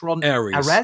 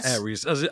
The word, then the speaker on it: Ares: How do you pronounce the second part of that? Aries. Aries.